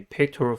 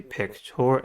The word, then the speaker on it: pectoral: The first word is a pectoral fin. Pectoral has 3 syllables and the stress is at the first one.